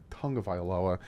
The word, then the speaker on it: Tagovailoa: Dolphins two tongue of iloa and again it's pronounced Tonga violoa has attention of NFL world yeah he after